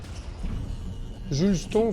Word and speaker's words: Juleston: Juleston, si vous voulez le prononcer à la française.